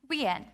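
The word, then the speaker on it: Nguyen: very tricky to pronounce is it GU when nu n Guyon the correct pronunciation is actually we n this is not the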